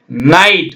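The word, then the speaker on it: night: இறந்த கால வடிவம் என் ஐ ஜி ஹெச் டி நைட் பாருங்க நைட் நை இட் ஜி ஹெச் போடணும் ஓகேங்களா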